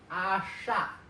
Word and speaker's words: asha: You pronounce it like asha asha. So you want to hold the sh sound for a little bit longer.